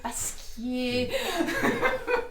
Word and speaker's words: Pasquier: On en parlait encore hier soir, en Paquier, Pasquier. Si on entend de Fribourg, c'est Paquier.